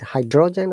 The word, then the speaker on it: hydrogen: sea level is that we have to stress on the first part so hydrogen rather than